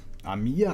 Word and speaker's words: amica: Amica? I don't know. Amica, that's how you say it.